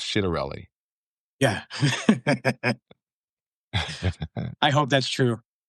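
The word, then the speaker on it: Ciattarelli: Now I'm told I was told by someone this morning that his name is actually pronounced Chidarelli.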